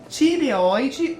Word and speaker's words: tireoide: muitas dúvidas e preocupações é tireoide ou tiroide na verdade a pronúncia de ambas é correto Ah então as os dois jeitos são cer dois jeitos ou tiroide ou tireoide a pronncia po escrever dessa forma e pode falar dessa forma que não tá errado